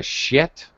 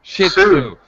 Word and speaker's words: Shih Tzu: So your breed of dog is a shit? Shit. I don't know how to say it. Shih Tzu. You shouldn't just say shit, because that's a bad word in English.